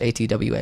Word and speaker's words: Atwa: My favorite track is Atwa, which is A-T-W-A, I always pronounce Atwa.